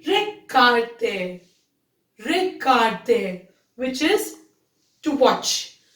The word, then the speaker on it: regarder: And the last one is regarder. Regarder, which means to watch. Here, the sound of G will be G, okay? It will be regarder.